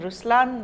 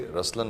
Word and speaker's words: Ruslaan: so even in raslan when you say raslan also means the lion it's the attitude of I am but the right pronunciation is Ruslan okay there is so